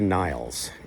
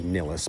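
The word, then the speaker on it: Nilles: Anika Niles, as she's pronouncing it now. I always understood it to be Nillis, but Niles it is, Anika Niles.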